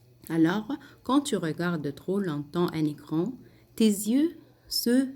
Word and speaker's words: longtemps: Quand tu regardes trop longtemps, ici la dernière partie, quand tu regardes trop longtemps, je ne prononce pas le PS, trop longtemps, un écran, voilà l'écran,